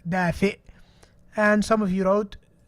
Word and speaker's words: دافئ: One person wrote دافع. Again, sound recognition, really important. دافئ, دافع. Look at the difference. دافئ, دافع. Okay, so this is دافع. It's not right. He said دافئ, which means warm.